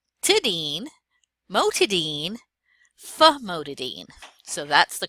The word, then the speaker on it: famotidine: Dean or bean but when we look at it it looks like dine we don't want to mispronounce that it's actually pronounced Dean so this is Dean - Dean mohtadeen famotidine so that's the correct